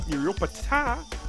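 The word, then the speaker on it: Nuriootpa: So we headed to Maggie's farm shop in Nuriupta, or as the locals say, Nuriupta, to find out what this South Aussie girl loves about SA.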